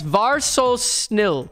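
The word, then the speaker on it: vær så snill: Just var so snill for just please. We got 3 syllables for please. Var so snill.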